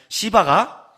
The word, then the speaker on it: 시바: 들어와요 그리고 나서 16장에 가면 시발하는 사람이 나타나요 발음을 조심해야 돼요 16장 3절 4절 보세요 자 시바가 나타났어요 왕이 이르되 내 주인의 아들 어디 있느냐